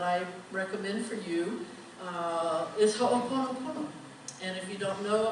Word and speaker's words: Ho'oponopono: And in Hawaii, we pronounce all vowels. All vowels are. So it's really very easy. It's Ho'o, Pono, Pono, okay?